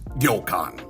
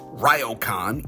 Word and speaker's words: ryokan: Now, the word is pronounced yokan, just to be clear. You see, since there isn't an R in the Japanese language, the R tends to sound more like a D, here's a great example.